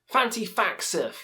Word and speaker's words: Thantifaxath: Thantifaxath is next with Hive Mind Narcosis.